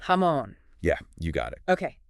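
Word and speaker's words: jamón: ham the best but it's not pronounced like uh like jam yeah not like Jam at all right it's hamon with that nice emphasis on the M hamon yeah you got it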